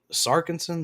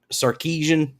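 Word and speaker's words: Sarkisian: um head coach uh sarson starson I forgot how you pronounce itan sarkeesian um that's the one said that uh you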